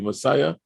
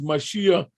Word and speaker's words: Mashiach: brother mashiach he said that's my jewish name i pronounced my name incorrectly messiah he said your name is mashiach and i want to